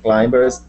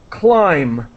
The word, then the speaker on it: climb: Finland's, and yes, to climb. Actually, what I'm going to do is the B here is completely silent. We do not pronounce the B.